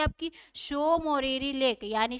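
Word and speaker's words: Tso Moriri: सोकर लेक के नीचे कौन सी झील आ जाती है आपकी, शो मोरीरी लेक। यानी शो मोरीरी लेक। इसमें टी क्या है आपका, साइलेंट है।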